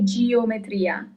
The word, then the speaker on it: geometria: Geometria. So don't fall into temptation and say geometria. Just keep in mind the letter E in Italian is always read as E.